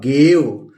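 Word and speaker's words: gave: ये हो गया जी से ग, और ए प्रोनाउंस करेंगे और यहां लिख देंगे व, गेव।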